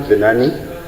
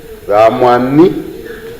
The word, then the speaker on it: Vaamwani: The surname is not Benani, Benani, Vaamwani.